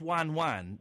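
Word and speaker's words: ワンワン: The Japanese would pronounce wan wan.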